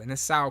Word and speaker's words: Nacelle: Because I pronounce it wrong. The Nacelle company. The Nacelle company.